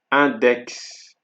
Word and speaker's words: index: So for X, for exceptions for X are six and index.